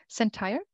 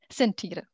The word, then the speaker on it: Sentire: Sentir, please correct me if I need to pronounce this differently. Sentire. Thank you.